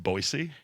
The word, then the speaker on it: Boise: It's pronounced Boise. Yeah, with an S. It's not fucking 3 Z's and a Y.